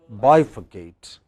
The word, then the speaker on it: bifurcate: have words like this ending in a t e they always take stress or two syllables before ate so what will be